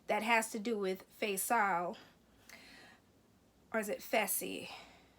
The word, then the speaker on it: Fessy: There's some tension between Haley and Caitlyn that has to do with Faisal, or is it Fessy? Fessy is how you pronounce his name.